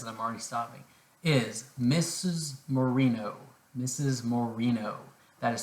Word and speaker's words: Moreno: the first sentence i'm already stopping is mrs moreno mrs moreno that is spelled m-o-r-e-n-o all right mrs mourinho in the